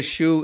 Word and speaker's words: Hsu: And Shue is spelled.